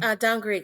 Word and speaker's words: Dangriga: Man, can you pronounce the name of the town again? Dangriga. Yeah. Dangrega.